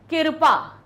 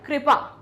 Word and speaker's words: कृपा: फिर होता है कृपा, कृपा नहीं होता है, क्या होता है, कृपा। का के नीचे री की मात्रा होती, कृपा नहीं कहते हम, क्या बोलते हैं हम, कृपा।